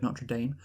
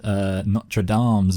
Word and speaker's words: Notre Dame: That is how it's pronounced in our country, so that's how we're going to pronounce it.